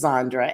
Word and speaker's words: Zondra: power on the table now my name is sandra as you know and that is spelled z-o-n-d-r-a and my middle name is yvette